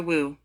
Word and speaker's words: Wu: utilize the powerful mantra wu this mantra is pronounced like a w and wisely imitates the